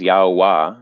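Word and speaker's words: Yahweh: understanding of youth which the most correct pronunciation that i've found is yahwah it's all all vowels or vowel sounds or whatnot um but and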